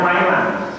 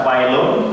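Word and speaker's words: وَيْلًا: Jadi membacanya wailan, tidak wailun tapi wailan.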